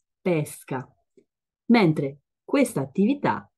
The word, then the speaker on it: pesca: il principio il principio queste parole si chiamano omografi sono parole che si scrivono nello stesso modo ma si pronunciano diversamente e hanno un diverso significato Come si chiama questa questa è una pesca pesca mentre questa attività